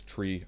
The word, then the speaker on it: niner: 3 5 & 9 3 knots phonetically is tree flight Niner all right so tree as in the thing with leaves on it life FIF e & Niner everybody knows that one now phonetic numerals